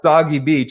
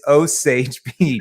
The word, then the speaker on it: Osage Beach: Like, oh, I thought it was a soggy beach. Like, no, dude, it's not a soggy beach. It's Osage Beach.